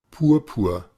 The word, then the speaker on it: Purpur: Esa A hacia atrás, ¿verdad? Nuestra lengüita hacia atrás, pero no hasta el fondo, sino como en medio de nuestra boca. Purpur, Purpur, ¿Ok? Entonces la pronunciación no es así como purpur, ¿verdad? No, es purpur, purpur, purpur, Deutsch.